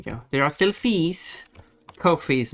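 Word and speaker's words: Ko-fi: Um, anyone is willing to give uh I thought it was pronounced as coffee. Yes, some say coffee. Um, but it is by the creators themselves has said that it is it rhymes basically it's no fee. So, it's Kofi, no fee.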